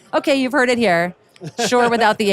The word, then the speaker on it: Shure: you've heard it here sure without the H the H is silent modeling our sm39 headset